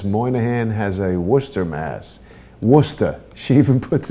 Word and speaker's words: Worcester: How do you pronounce that? Worcester.